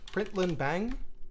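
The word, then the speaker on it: println!: quickly so i'm going to say println right println bang that's how i pronounce this um you entered you entered and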